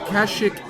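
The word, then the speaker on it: Kashyyyk: Kashik is correct. Is that how you pronounce it? Yes, cash. There we go.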